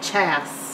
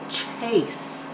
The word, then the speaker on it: Chase: like that and say chess but we want it to say Chase which means there's a silent E on the end making the a say its name Ace CH Ace